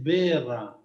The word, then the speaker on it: Wërra: Mira, yo le pregunté a mis amigos alemanes, estuvieron investigando, y como es una interjección alemana antigua, suponen que es berra Oh, o algo así.